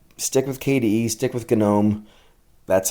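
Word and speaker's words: GNOME: this many uh stick with KDE stick with gome that's how it is pronounced if you're just following along uh for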